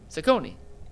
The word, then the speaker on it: Cecconi: Cecconi. Oh, you was talking about the White Sox? No, I was talking about the White Sox. I was talking about, I said, look at the White Sox. Yeah, Cecconi pitched well.